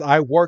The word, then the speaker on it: Iwark: Japanese the crystal ior so I guess ior is how you say onx in in Japanese or just what they